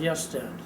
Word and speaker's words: Gösta: I think it was spelled G-O-S-T-A, but they pronounced Gösta, Swedish.